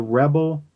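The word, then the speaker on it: Rebelle: As in Belle, as in female. Yes, Rebel. exactly. Take off on the French.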